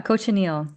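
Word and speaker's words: cochineal: Like I really loved um Lena your project with um was it Kokalier? How do you say that? The the insect that dyes the Oh yeah. Cochanil. Yeah.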